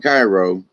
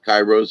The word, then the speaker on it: Cairo: Don't call it Cairo, although it's spelt that way. Cairo's in Egypt, Cairo's in Georgia.